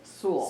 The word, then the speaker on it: Sewell: Is it Sewell? Is that how you pronounce it, Lori? School, rhymes with school, Sewell. Sewell.